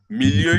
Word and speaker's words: milieu: You can see it in the screen, but let me spell it. Psycho is S-P-S-Y-C-H-O. Psycho. You now put hyphen. Milieu is I spell French, I don't know.